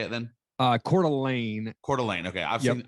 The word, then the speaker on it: Coeur d'Alene: listening to this uh i'm based out in coeur d'alene idaho man and we're being swapped by everybody